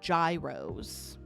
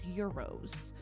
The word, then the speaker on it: gyros: Some people call them gyros. I believe the correct pronunciation is euros.